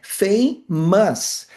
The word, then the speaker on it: famous: Olha a fonética da palavra famous, é assim que se escreve, com schwa. O schwa é esse carinha aqui, que tem esse som de a, e o apóstrofo aqui na fonética indica que a próxima sílaba que é a tônica.